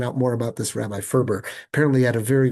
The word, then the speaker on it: Ferber: I always thought his name was pronounced Farber, but when I looked it up, no, it was Ferber was how he pronounced it.